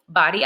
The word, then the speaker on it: Bodie: 1958 with Ocracoke, Kirktuck, Bodie, which actually is pronounced Body Island, and Cape Hatteras being our largest at 208 feet.